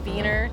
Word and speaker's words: Wiener: (laughing) (polka music) (exciting techno music) ANNA RIPPE: We say wiener dogs, but the German pronunciation would be viener.